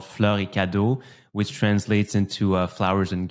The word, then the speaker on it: Fleurs Cadeaux: was a souvenir shop so basically it's called floricado which translates into Flowers and Gifts Flowers and Gifts okay thankfully you pronounced it because I would completely butchered it